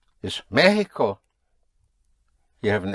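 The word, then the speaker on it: México: Mexico is Mexico. You have an accent over the E. Otherwise it would be Mexico but it is Mexico.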